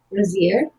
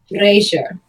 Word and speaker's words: brazier: How did you pronounce it? Brazier? Yeah, that. No. Brazier.